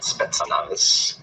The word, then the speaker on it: Spetsnaz: It's not Spetsnaz, Spetsnaz.